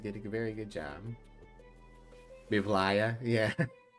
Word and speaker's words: Mivlaya: But I do occasionally get Mivila, and I'm like, not the order of the letters. All right, but yeah, let's start. Obviously, Mivlaya is the pronunciation of the legally distinct D&D boss.